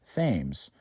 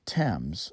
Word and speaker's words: Thames: into Thames River yep that's how you pronounce the name of this River Thames not Thames like in London this is New London this Monument is for